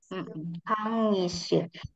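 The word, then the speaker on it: 강의실: Kangisir. Berhubung dia di tengah ya, dia dibacanya sebagai huruf I.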